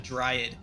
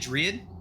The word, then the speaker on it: dryad: sorry i like i i've always pronounced it dread and then somebody corrected me and then i went and checked google and they were freaking they had the audacity to be right and so now i'm